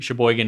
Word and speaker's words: Sheboygan: mitten but i was informed that it's actually sheboygan and sheboygan wisconsin and michigan same place okay